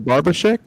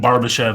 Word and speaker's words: Barbashev: Ivan Barbashek? Is that it? The first hit was Ivan Barbashev.